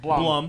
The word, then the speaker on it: Blum: Is it Bloom or Blum? Either way. Blum.